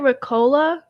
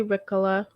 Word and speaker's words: Ricola: how is it pronounced i pronounce it recola but it might be ricola you're right i think